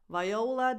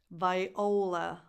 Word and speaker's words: Viola: Viola Davis. Those are two defined syllables. Viola. La. This one is not a defined vowel. It's not viola. It's viola. La. La. It's like a more defined schwa, but still the stress